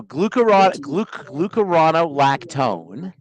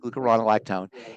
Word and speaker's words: glucuronolactone: So glucuronolactone is how you say it, glucuronolactone, is a breakdown product, a derivative of glucose.